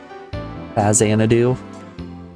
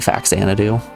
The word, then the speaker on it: Faxanadu: I've always pronounced it Faxanadu. I refuse to accept that an X makes a Z sound.